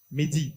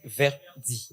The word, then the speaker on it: Verdi: Mehdi, pardon. Verdi. C'est Merdi. Verdi. J'ai mal noté ton nom.